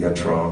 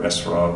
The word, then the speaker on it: etrog: And so they use it in their celebrations, the etrog or esrog, or they also spell it E-T-H sometimes, ethrog.